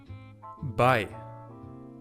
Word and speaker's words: bei: This one is pronounced I, bei, which means at.